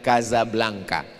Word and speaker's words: Casablanca: Nama kota itu ditulis Casablanca. Pengucapannya adalah Kazablanka."